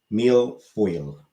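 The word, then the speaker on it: mille-feuille: fo f e u i l l e meal foil or something like that uh question five the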